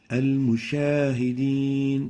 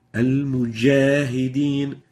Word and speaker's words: مجاهدين: And the example showing the wrong pronunciation is al-mushahideen. Al-mushahideen. Musha is wrong. We're pronouncing a sheen instead of the jim. The right way of pronouncing it is like this. مجاهدين Al-mujahideen. Mujah, not musha. So make sure not to mix the sound of the jim with that of the sheen.